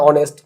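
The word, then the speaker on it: honest: করতেছি এন টাকে আমরা ইউজ করছি যেমন অ্যান অনেস্ট এইচ উচ্চারণটা এর মতো এন আওয়ার যখন বলতেছি এখানে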